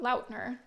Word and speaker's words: Lautner: Apparently it's pronounced Lautner, not Lautner, but Lautner.